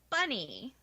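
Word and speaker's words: Bonei: spelled B o-n-e I it's pronounced bunny so i am lady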